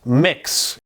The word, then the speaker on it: Mx: It's pronounced mix.